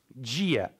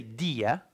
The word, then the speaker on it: dia: So the T becomes ch, like the D becomes z, dia, We don't say dia, dia, gi, gi, in Brazilian Portuguese.